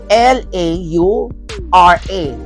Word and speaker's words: Laura: Ang spelling ng kanyang Laura is L-A-U-R-A. Laura, not Laura. It's Laura. Pero ang Biagiotti is B-I-A-G-I-O-T-T-I.